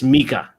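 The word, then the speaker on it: Nmecha: mck I forgot what what you said his pronunciation was um MAA Felix maika yeah that's the guy who scored and yeah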